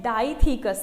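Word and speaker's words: dithecous: Theca, इसीलिए जो हमारा एक एंथर लूप है इसमें हमारे क्या है, डाईथीकस है, इसको हम यहाँ पे प्रोनाउंस करते हैं डाईथीकस, यानी डाईथीका या फिर डाईथीकस।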